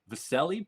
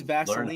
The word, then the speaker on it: Vasilije: How do you pronounce his first name? Vasilije, but he goes by Vasa. Oh. I know all these because I watched tape. I thought it was Vaseline, how to say his name.